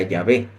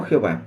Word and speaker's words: Yahvé: que es la historia se encontró que la pronunciación más correcta y que más se acercaba la pronunciación correcta era yahvé no Jehová porque la de Jehová